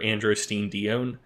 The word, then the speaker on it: androstenedione: about either DHEA or androstenedione, or dione, depending how you pronounce it.